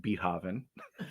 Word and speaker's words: Beethoven: right on the podcast but it's pronounced beethoven oh of course